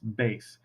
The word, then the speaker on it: bass: It's not bass like the fish. It's bass.